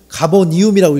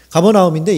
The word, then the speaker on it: 가버나움: 그래서 한번 제가 가이드를 할 수는 없고 가서 이렇게 예수님 오늘 지금 종민 형제도 가버니움이라고 읽잖아. 가버나움인데 이게 익숙하지가 않아서 그래요.